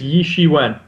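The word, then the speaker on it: Ye Shiwen: are hearing her name how do you pronounce it again i believe it's yi she went i guarantee she's going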